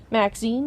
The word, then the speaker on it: Maxine: the most Exquisite varieties Maxine rhymes with Queen after all and dearest